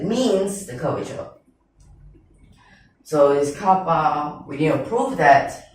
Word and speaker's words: kappa: So from this part, just beware that this is not a K. This is from a Greek letter, and you pronounce it as kappa. But don't confuse this kappa with car park.